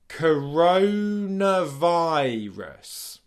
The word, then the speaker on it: coronavirus: which is helpful because the last two sounds in this word are the schwa sound followed by the S sound to finish it off.